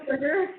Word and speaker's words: Pittsburgher: Pittsburgher.